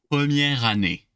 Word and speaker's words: première année: I don't necessarily end with an E, as you can see, but with an R, but I can still kind of bypass that E since I'm not pronouncing it. What's the last letter I'm going to hear? An R. So just whipping it all together the same way.